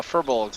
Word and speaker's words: Firbolgs: gly i said it wrong all the uh furbolgs on the neighboring cliffs nod and murmur to